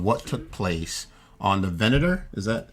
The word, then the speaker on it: Venator: It's a recording of what took place on the Venator. Is that how it's pronounced?